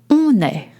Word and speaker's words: on est: And now you heard on est. On est, it's spelled O-N and then E-S-T. On est, it's spoken French for we are.